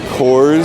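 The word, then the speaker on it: Kohr's: We got the Coors ice cream here. You know, it's spelled K-O-H-R-S, but it's pronounced like Coors, so it's a little confusing.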